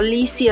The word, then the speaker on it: Lisi: en Facebook estoy como Lizzy. Lizzy se escribe L-I-S-I, y en Instagram.